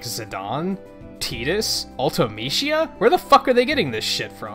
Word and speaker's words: Zidane: just like when I found out it was pronounced zidane and I was like are you [ __